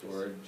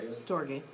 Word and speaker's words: storge: I think it's pronounced Storge. Storge.